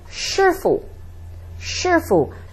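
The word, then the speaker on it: 叔叔: say they might say Shu Shu so it's sounds like the English word sure sure fu fu is easy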